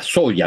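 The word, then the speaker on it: Zoja: conversación está ulo de se pronuncia soya no el luig soya el yo le digo así pero capaz que el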